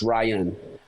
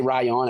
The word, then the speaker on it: Ryon: Yeah, I mean, because like my name is pronounced Ryan. Right, it's not pronounced. People say Ryon, and I say Ryon sometimes because it's pronounced with an O. That's kind of like my DJ name, DJ Ryon. You know, but it's pronounced like Ryan. It's spelled RYON, but it's pronounced Ryan.